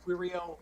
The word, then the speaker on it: Querio: Next we have Querio. Very good, thank you. Rhymes with Cheerio. Good morning, my name is Quirio.